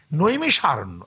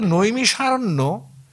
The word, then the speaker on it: নৈমিষারণ্য: সেটা নৈমিষার থেকে দেখুন ওরা খ উচ্চারণ করে তার থেকে হয়ে গেল নিমখার নিমখার কিন্তু স্টেশন আছে